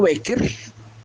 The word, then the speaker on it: Bécquer: Ahora vamos a ver en qué circunstancias el apellido Becker que se escribe B e con tilde C Q u E r becker, como si fuera en francés Becker.